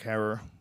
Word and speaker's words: Herer: It's the one that, as we said, was written by our late friend, Jack Herer. Herer is how you say it, right? Not Herrera. Think terror.